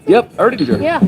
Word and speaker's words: Erdinger: Is that how you pronounce it? Yep, Erdinger.